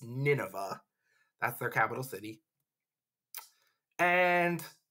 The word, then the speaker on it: Nineveh: I know it looks like Nineveh, but it's pronounced Nineveh.